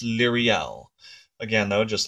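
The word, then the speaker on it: Liriel: Originally, I thought it was Lorel, and then she sent to me the proper way to pronounce names, and I believe it's Lyriel.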